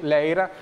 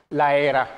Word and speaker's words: Laera: L'inizio è stato buono e se in regia Massimo è d'accordo, io farei partire anche l'intervista, abbiamo citato l'allenatore, coach Anthony Leira, Laera, si pronuncia bene.